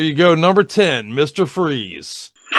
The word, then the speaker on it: Freeze: IT'S FREEZE, BUT YOU SPELL IT FRIES, LIKE FRENCH FRIES.